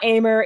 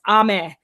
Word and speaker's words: Aimer: was corrected because apparently her name is not Aimer. It's actually pronounced Ame.